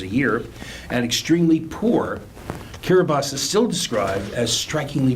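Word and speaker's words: Kiribati: we have this week is the nation of Kira bas composed of a series of atolls driving the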